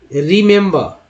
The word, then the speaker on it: remember: एक आर के साथ ई है जिसका उच्चारण ई के रूप में, चाहे छोटी या बड़ी। एम के साथ जो है इसका उच्चारण ए के रूप में, और बी के साथ जो है इसका उच्चारण आ के रूप में। उच्चारण क्या करते हैं, रिमेंबर, देखिए री मात्रा चिन्ह के अनुसार ये जो लिखा मैंने स्वर उसको मात्रा में बदल दिया मैंने, रिमेंबर, है ना, रिमेंबर।